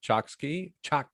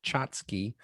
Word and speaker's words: Choksi: Don't say Chotsky, Choksi. Choksi. Tell us what you want to talk about. Sure. And if it helps, I'll put a phonetic type pronunciation in the chat. There you go. Like a piece of chalk and then seeing. So see, Choksi. There you go.